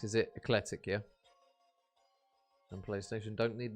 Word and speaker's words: Ekletyc: juicy can't wait for it viz am I pronouncing it correct is it ecletic yeah and Playstation don't need the money C